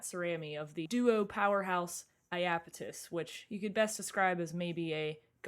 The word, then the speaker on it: Iapetus: The band name is Iapetus.